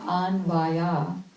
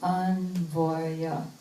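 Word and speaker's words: अन्वय: Not anvaya, but anvaya. Anvaya. All closed A's.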